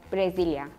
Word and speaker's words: Brasil: In Turkey, we pronounce it like Brasilia.